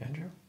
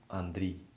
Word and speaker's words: Andriy: Is that your Ukrainian name, Andrew? Well, it's pronounced actually Andriy.